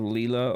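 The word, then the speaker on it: Lila: I just thought like I say Laya instead of Leela or something.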